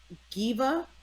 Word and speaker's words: Giva: So understanding that for the most part, Talia knows that if Giva, am I saying it right with a G? Yeah.